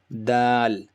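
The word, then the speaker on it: دال: tip of your tongue touches the bottom of your upper teeth and gum. So where the bottom of your upper teeth and gum meet, that's where your tip of your tongue should be to pronounce this Da sound.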